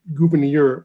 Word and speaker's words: Gouverneur: The story of Gouverneur Morris, as I understand his first name is pronounced, is he and Hamilton were having an argument one day about Washington.